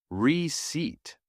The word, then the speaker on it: receipt: Native speakers pronounce the word receipt with a silent P. It sounds like receipt.